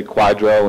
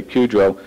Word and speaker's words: QDRO: I know when we dealt with the last Q, which was QDRO, some people say Quadro and some people say QDRO.